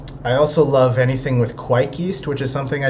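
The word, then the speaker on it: kveik: I also love anything with quike yeast, which is something I didn't really touch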